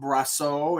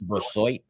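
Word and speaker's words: Brisebois: It could be Laurent Brasseau. It could be Laurent Brassois. Excuse me. I always mispronounce his name. It's Brassois.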